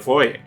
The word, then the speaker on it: foyer: The film's cast and crew were already in the foyer. That's how you pronounce foyer, Americans, with glasses of champagne in their hands.